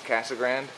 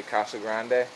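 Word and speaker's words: Casa Grande: And now we're coming into Castle Grand or if you want to say it the proper way, Kasa Grande. But I like to say it like a white guy cuz I'm a white guy.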